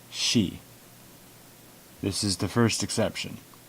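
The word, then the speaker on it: し: she to say so notice that there is no see it's pronounced she this is the first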